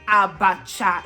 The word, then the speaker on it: abacha: in English African salad so it's actually abacha in EO so it's actually a